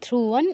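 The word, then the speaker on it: ধ্রুবং: মৃত্যুর নয় মৃত্যুর ধ্রুব ধ্রুবান ধ্রুতে দীর্ঘ করা যাবে না ধ্রুবন এটা কিন্তু ধ্রু ধ্রুবন আর আগের ধ্রুবটা ও তে দীর্ঘ ছিল ধ্রুব মৃত্য ধ্রুবনের অনুস্বারে জায়গা চই হসন্ত নাসিকার প্রয়োগ করতে হবে এবং ন এর কাছাকাছি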